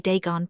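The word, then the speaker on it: Dagon: Deegon pronounced dagen not like the guard in the scriptures, said my companion confound it.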